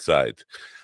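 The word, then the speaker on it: Seids: S E I D S is her name. I think she pronounces it sides.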